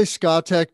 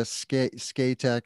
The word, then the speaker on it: Scatec: job skatic yeah yeah i say scatec just because that's how the norwegians pronounce it but i don't know how we say it in english sk you would think scandinavia scatec or scotec i don't know but i like that one so if you know the proper pronunciation that's the one i'm going with so scatec sn power